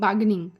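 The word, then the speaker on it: bargain: shell means बाहरी आवरण बगे आर साइलेंट होता है बारगेनिंग बागनिया हम शॉपिंग करने किसी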